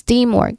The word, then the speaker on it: teamwork: Okay, so pronunciation wise, stress is still in the first syllable. Teamwork. Again, teamwork. So on the first syllable, there's a long e sound here. Team. So that's how we say it.